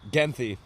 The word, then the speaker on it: Genthe: Genthe. What is that? Genthe.